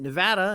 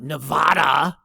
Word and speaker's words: Nevada: happy nevada day people take note everybody i pronounced in nevada and not nevada which is not how the state is pronounced